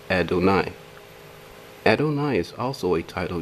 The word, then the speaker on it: Adonai: reference h1 36 Strong's reference a 23-6 is pronounced Adonai Adonai is also a title used as a